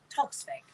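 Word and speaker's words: Toksvig: How do I pronounce it? Toxvig. Toxvig.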